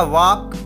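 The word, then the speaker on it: walk: Next हमारा वॉक नॉट वॉल्क, वॉक means चलना, तो वॉक वॉक्ड वॉक्ड वॉक वॉक्ड वॉक्ड।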